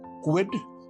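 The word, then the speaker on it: Kwid: car called a Reynold Quidd or a Renault Quidd. Depends on where you are in the in the world and how you pronounce Renault. Um, we say Reynold. It's quidd k Wii D.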